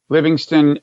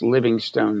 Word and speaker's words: Livingstone: Livingston has an E on the end, correct, as if it were pronounced Livingstone, though it's not.